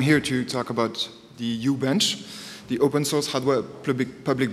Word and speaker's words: uHbench: name why you bench I pronounce it u-bench that is the well that's how you can read it how to pronounce it it mimics a cryptic Scandinavian names and you know what